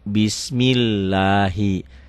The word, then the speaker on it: Bismillahi: kata-katanya ini ya Bismi Bismillahi Kenapa Bismillahi karena sebelum lafat Allah barisnya di bawah ini dibacanya tipis tarkik ya Bismillahi Arrahman ini